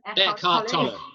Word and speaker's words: Eckhart Tolle: Eckhart Tolle.